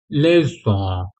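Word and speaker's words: leçon: इसी तरह से ये लेजों लेजों ठीक है अगर सेडला नहीं होता तो क्या प्रोनाउंस करते ले को लेकिन हमें क्या बोलना है लेज ठीक है इसलिए हम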